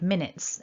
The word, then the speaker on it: minutes: pronunciation of the word minutes in english so here's the script from the dictionary that mark top left the blue mark tells us that we stress the first syllable and that blue dot